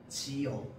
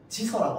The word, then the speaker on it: 지어: 지어. 지서라고 안 합니다.